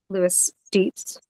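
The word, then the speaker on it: Loeys-Dietz: with this RIS um include Maran syndrome yeah Lis de's syndrome that's spelled l o e Ys python d i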